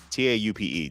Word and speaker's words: taupe: do you say this t-a-u-p-e tape top how do you say that how do you say this color t-a-u-p-e everyone's saying green Pacific Blue looks nice the Evergreen taupe that's how you say it thanks David oh yeah